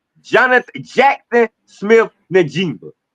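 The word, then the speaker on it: Njigba: One embarrassing Baris Sanders, two embarrassing the NFL offensive player on the year by ignorantly ignorantly mispronouncing his name. Jonath Jackson Smith Nima, not Jackson Smith n word and whatever kind of connotations you want to add with that dusky.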